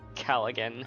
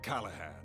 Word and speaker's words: Callaghan: Professor Callaghan. As you know, my name is Callahan. Sorry, Callahan. The G is silent.